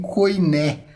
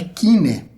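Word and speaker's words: koiné: E agora a gente tem aparece aqui, eu comentei, eu falei aqui o termo kine, que você conhece como grego coiné, mas a pronúncia é kine.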